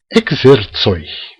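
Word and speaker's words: ekzercoj: Bom, a primeira coisa que a gente tem que dizer em Esperanto é que esse J que aparece, ele é plural. Então, se é plural, e ele pronuncia como um I breve.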